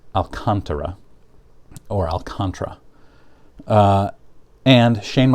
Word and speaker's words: Alcantara: name i pronounced it i took spanish for six years growing up it should be pronounced alcantara alcantara but somebody told me it was pronounced alcantara which doesn't make sense but i researched it